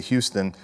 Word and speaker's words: Houston: And you're probably saying, why don't I say Houston? But believe it or not, in our neck of the woods, they pronounce the street Houston.